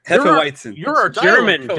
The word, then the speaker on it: Hefeweizen: It's called Hefeweizen. I don't know how you pronounce that, to be honest. Hefeweizen. Hefeweizen. You're our German. coach, W's man. are V's and V's are W's. It's Hefeweizen.